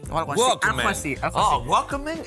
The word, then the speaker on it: Walkman: Bueno, que sabes que pronunciado ben non é Wallman. Como é? Que nos falamos mal, nós todos. Como é? Dixerme un día, a profesora de inglés dixome que Wallman, eso de Wallman, é Walkman, ou algo así.